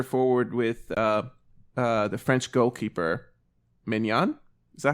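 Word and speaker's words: Maignan: And then they had Musiala at center forward with the French goalkeeper, Mignon. Is that how you pronounce his name? Yeah, Magnan.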